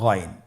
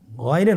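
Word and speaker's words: غين: উচ্চারণ করা যাবে না যেহেতু হরফটি মোটা এজন্য মোটা করে উচ্চারণ করতে হবে মাশাল্লাহ আলহামদুলিল্লাহ আমরা আজকের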